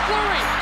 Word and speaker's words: Fleury: Therrien Fury, is that how you say it? Therrien Fleury. That was close enough, and I like this kid, I'll tell you. Messier gets it away, here's Fleury, looking for his first goal of the series.